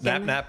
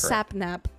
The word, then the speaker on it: Sapnap: people said I pronounced his name wrong. I feel like his I'm saying it His name is Sapnap.